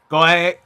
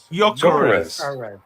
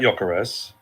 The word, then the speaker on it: Gyökeres: I'm going to try and pronounce it. They're trying to, abbreviate for me. Garesh. I can't do it. Do you want to have a go? Gyökeres. Oh, I like Gyökeres.